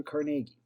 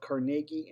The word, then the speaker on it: Carnegie: the name of andrew carnegie now i've seen it pronounced both carnegie and carnegie so i leave that up to you but this man was